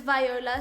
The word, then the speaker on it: Viola: socials at underscore v-y-o-l-a my name is viola spelt with an i but pronounced with the y and this is the